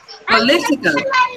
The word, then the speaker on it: political: Political. Say poly. The stress is on Lee.